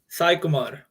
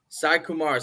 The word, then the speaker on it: Saikumar: Saikumar. Saikumar.